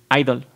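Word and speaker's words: (G)I-DLE: como yo ya idol que se pronuncia sólo como idol la letra allí entre paréntesis está en silencio pero muchos fanáticos internacionales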